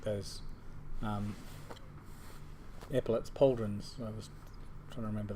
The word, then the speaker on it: pauldron: Pauldron isn't cauldron. Yeah, What? normally. I think How do you spell it? Pauldron. Oh, so like cauldron. Like cauldron, yes. Pauldron is in cauldron, yes.